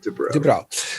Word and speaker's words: DuBrow: So Kevin Dubrow, is that how you pronounce it? Is it Dubrow? Dubrow.